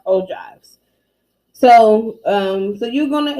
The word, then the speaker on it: ogive: frequency histograms in ogives oh um this is pronounced oh drive even though it's spelled like oh gibbs is pronounced o drives so um so you're gonna examine the tables